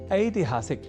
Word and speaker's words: ऐतिहासिक: ई इस अक्षर से जुड़े शब्दों के शुद्ध उच्चारण के उद्देश्य के साथ कुछ वाक्यों का कर लेते हैं अभ्यास एक शब्द है ऐतिहासिक जिसे हम अनवत वश या प्रादेशिक के कारण